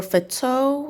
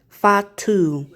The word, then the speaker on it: Fatu: Jacob Fatu or Fetto. How's that pronounced? Fatu. Fatu.